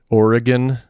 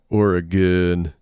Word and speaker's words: Oregon: uh oregon uh uh the schwa oregon well it's still three syllables it's just it's oregon instead of oregon and because i just